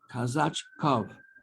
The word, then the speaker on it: Kazachkov: Kazachkov. Is that how I pronounce it? Kazachkov, son of Kazach. That's right.